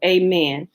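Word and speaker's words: aman: man a-m-a-n means truly usually perceived usually pronounced amen a math means truth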